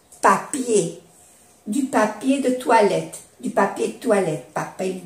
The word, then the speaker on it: papier: Y ya sabemos que en francés la E y la R cuando termina suena E, papier, du papier de toilette, papel de baño. O, se puede decir, ou du papier hygiénique, papel higiénico.